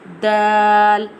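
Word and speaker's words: د: Dal pronounced from the tip of the tongue touching the roots of the top two front teeth. Dal.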